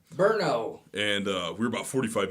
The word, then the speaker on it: Brno: It's properly pronounced Brno. Brno.